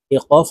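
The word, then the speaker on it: قاف: সঙ্গে লাগাইয়া দুই ওয়ালা কফ হরফ জিহ্বার গোড়া তার বরাবর উপরের তালের সঙ্গে লাগাইয়া উচ্চারণ করতে হবে আপনারা আমার সঙ্গে কয়েকবার বললে আপনাদের এই কফ হরফটি সহি শুদ্ধ হয়ে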